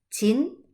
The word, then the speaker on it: Qin: prosperidad y la dinastía chin que es la última la curiosidad de la historia china es que la primera es se escribe en el álbum se pronuncia como ch es decir chin chin a algunos dicen